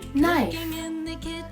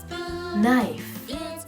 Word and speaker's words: knife: Our next word is knife. But this word, the letter K, it's silent. So we read it like this. Knife.